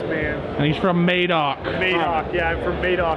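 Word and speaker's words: Madoc: And he's from Maidok. Mock. Yeah. I'm from Maidok. They never say Maidok. You have to say Maidok.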